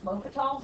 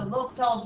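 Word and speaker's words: L'Hôpital: And there is something called L'Hopital's rule, and it's spelled weird because it's not English. Yeah, it looks like hospital. Yeah, there's no S, but some spellings do have an S, but it's still always L'Hopital's because it's like French.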